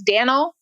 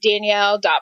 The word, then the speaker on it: Danell: in e ll so people want to pronounce it as Dan'l but it's pronounced Danielle so in the world of Danielle's blog in the world